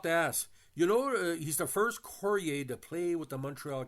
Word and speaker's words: Carrier: from the family genus Carrieri, which is Italian-French from 1600s. So, by the way, it's not Carrier, it's Courrier, or Cahier, depending on pronunciation.